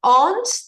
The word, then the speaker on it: owns: own any hotels hotels owns the verb own he owns is pronounced own like a long on the W is silent he owns some restaurants